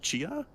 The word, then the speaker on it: Tchia: I think it's pronounced Chia, TCHIA.